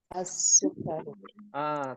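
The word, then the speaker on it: السكر: atibu berikutnya asukar asukkaru asukaru tasdidnya ada dua Sin dan huruf Kaf asukaru berikutnya addaftaru addftaru berikutnya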